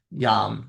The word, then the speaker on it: yama: So just like yog is not yoga. Yam is the more proper way to say it.